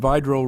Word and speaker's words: Vidro: you have to remember his name looks like Vidro he reminded me that he was a Public Works engineer a civil engineer at one time and by droll rhymes with hydro and that's how you remember it upon his retirement after